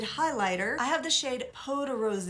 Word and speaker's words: Peau de Rose: I have the shade Peau de Rose. I always thought it was Peau de Rose, but it has the accent on the end.